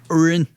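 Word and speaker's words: Orrin: Orin.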